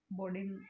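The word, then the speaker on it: Bodin: सबसे पहले इसकी बात करेंगे बायोग्राफी की कि बोंडा का जन्म, इसको देखिए हिंदी में जब हम प्रोनाउंसिएशन करते हैं तो उसको बोंडा बोलते हैं और इंग्लिश में बॉर्डन उसको बोला जाता है।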